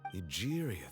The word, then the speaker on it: Egeria: Egeria, then. I had Egeria. never met Oh, her, that's how it's pronounced.